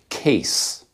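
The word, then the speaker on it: Kees: wrong it is pronounced case i guess that's the dutch pronunciation of those letters that's just how it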